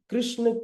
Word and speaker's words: कृष्ण: Actually हम कृष्ण कृष्ण कहते हैं इसलिए जीवा नहीं घूमती। अगर आप कृष्ण कहेंगे अगर आप कृष्ण कहेंगे तो आपकी जी्हावा नाचेगी। प्रोनंसिएशन का बहुत फर्क है।